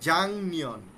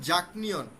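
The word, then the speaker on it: 작년: পরে মূল বর্ণ নিয়ন বা মিয়ম থাকলে গিয়কের উচ্চারণ ইয়ং এর মত হয়ে যাবে ইয়ং তাহলে কি হবে জাংনিয়ন জাং নিয়ন হ্যা আপনারা খেয়াল করেন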